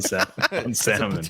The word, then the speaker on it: salmon: This guy goes full L on salmon. He's catching me with it now. It's contagious. Salmon. You want to pronounce the letters? Pronounce them.